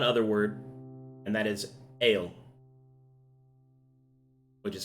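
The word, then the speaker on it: ael: So you're able to learn one other word, and that is ale, which is spelled Okay.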